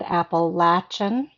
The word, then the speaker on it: Appalachian: Um and that is how you pronounce the word appalachin. It is a Native American term. I forget what it stands for, but it it's got the latch in it. Um so appalachin uh appalachin children that are trying to take care of themselves.